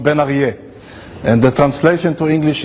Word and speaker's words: Ben-Arieh: to pronounce my name which by the way is pronounced benier and the translation to